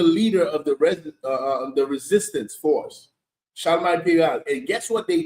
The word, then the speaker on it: Charlemagne: How you pronounce the name? Charlemagne.